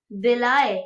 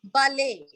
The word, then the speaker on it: balai: Ma'am, and the second one Then will be next, Belai. second one is, no, ballet. Ballet.